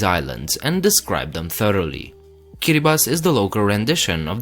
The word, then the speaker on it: Kiribati: likely pronounced it wrong, Kiribati. Yes, the TI at the end is pronounced as an S. Kiribati is the local rendition of Gilbert.